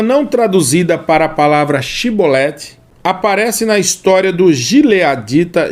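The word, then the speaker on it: shibboleth: mostraria sua verdadeira identidade por sua incapacidade de pronunciar a palavra shiboleth corretamente dizendo ao invés disso outra palavra cebolete a diferença no dialeto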